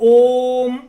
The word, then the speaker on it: ओम: और हम अगर व्याकरण के हिसाब से ओम का उच्चारण करना चाहें तो ओ का उच्चारण माँ की अपेक्षा 6 गुना अधिक होना चाहिए, क्योंकि जो प्लुत की